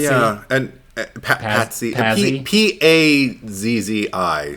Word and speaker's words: Pazzi: He P A Z Z I. So, you pronounce it however you say it. It's like a It's like an a pizza, but just, you know, Pazzi. Pazzi.